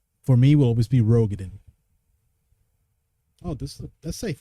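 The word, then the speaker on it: Roegadyn: I learned that the real name, the real pronunciation for that race is Rugadin. For me will always be Rogaden.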